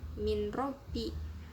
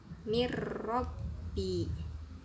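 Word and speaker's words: من ربي: Contoh pada lafadz min robbi, itu dibacanya bukan min robbi, harus dimasukkan bunyi n, huruf n ke ro nya, jadi dibacanya mir robbi.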